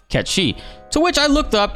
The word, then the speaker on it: Cait Sith: I'm saying it wrong that it's actually not Kate said it's pronounced Kechi to which I looked up and it is true it is true they actually do say uh catchy in the Gaelic pronunciation of the lore that